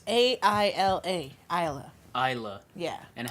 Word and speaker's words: Aila: Isla. Isla. Yeah. And how do most people pronounce it the first time they see it? Oh, God. So, very common is Ila or Ayla.